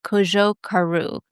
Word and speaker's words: Cojocaru: Yeah, I know I put too much emphasis on the "jo" part. Say it for us. It's Cojocaru.